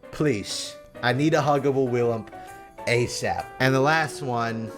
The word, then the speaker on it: Willump: Já myslím, že se to určitě nevyslovuje William. To jsem říkal. That's the most huggable character. To jsem aspoň slyšel, že řekl, a to je jedno. I have 2 Willump plushies.